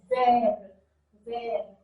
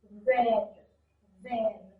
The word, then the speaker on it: vert: Vert, vert. Notice T is a consonant, so no need to pronounce it. Vert, vert.